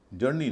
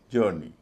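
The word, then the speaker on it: journey: जर्नी, जर्नी, जर्नी नहीं, जर्नी, क्योंकि OU के बाद आर है, तो यह एक अलग तरह का उच्चारण होता है।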